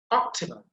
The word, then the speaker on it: optimal: Then also al, you can see al, it ends with al, so we have to put emphasis on the first syllable. Optimal, optimal, optimal.